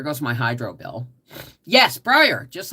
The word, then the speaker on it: Brier: really can't El Linda his name is spelled like Brian b r i a but with an r on the end instead of uh an N it's Brier like Brian but with